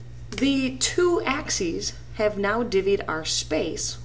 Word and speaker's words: axes: the y axis together the plural of axis is axes which looks like axis but it's pronounced axes the two axes have now divvied our